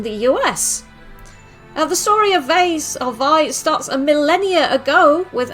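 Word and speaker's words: Vay: But tonight, the first game we're looking at is called Vai. It's spelt Vei, V-A-Y.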